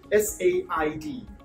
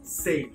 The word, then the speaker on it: said: S-A-I-D. Most of us, we pronounce this say, but that is actually said.